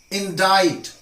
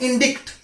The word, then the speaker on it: indict: ones indict just hold that indict not indict it means to charge somebody with crime the leader was indicted with crime